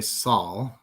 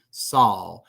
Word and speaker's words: Saul: El nombre Saul. Saul. Es como sal en español, pero no igual, porque no es sal, sino Saul. Saul. La L en inglés es más suave, no es tan tensa.